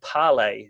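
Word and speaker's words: Parler: new great platform for social media debate called parlay and it's spelt P AR l e & u that's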